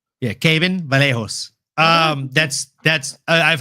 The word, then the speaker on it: Kevin: Brazilian name like Kevin, they pronounce the V as a B. So, it's Caven Vallejo. Oh, Kevin Vallejo. Yeah, Caven Vallejo.